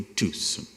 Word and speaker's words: Tucson: inglês do que eu, corrigiu a pronúncia do carro que eu tinha então e me disse que eu havia adquirido um Tucson, não uma Tucson, que este C não se pronunciava, por algum motivo que só os indígenas do Novo México dominavam.